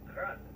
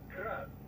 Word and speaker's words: Grad: Technically, the Yuji's name is pronounced Grad, the Ukrainian way. But most in the business pronounce it as Grad, Russian style.